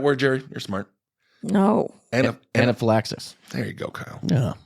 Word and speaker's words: anaphylaxis: UK caused twice as many deaths due to anifia as be stings because they can just keep going and going and going how do you say that word Jerry you're smart no anaphylaxis there you go Kyle yeah oh look at